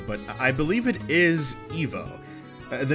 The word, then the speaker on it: Ivo: For the longest time, I always used to say Ivo, but I believe it is Evo. The name Ivo, or Evo, is of French origin, I believe. The English pronunciation is Ivo, with the original being Evo.